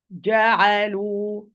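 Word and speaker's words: جعلوا: Ja'alu, ja'alu. First, I'm going to pronounce the G from its articulation point.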